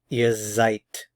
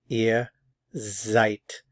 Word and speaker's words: ihr seid: you ear you are ear Zite ear Zite notice the pronunciation of the s z Zite and notice the pronunciation of the D sounds a lot like like the English T ear Zite ear Zite